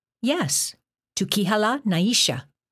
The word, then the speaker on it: Nisha: name yes to kihala Naisha the first name had its emphasis on the second syllable to kihala the second name sounded like three syllables Naisha I recognize the Lena